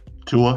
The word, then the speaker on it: Tua: Tua. Tua.